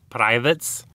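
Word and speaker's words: Pravets: Bulgaria produced the Pravits line of Apple II clones, or I guess to pronounce it correctly, Pravits.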